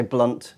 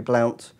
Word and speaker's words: Blount: He's one of those players that the Americans pronounce like you shouldn't think. All the commentators say Blunt. It looks like it should be Blount.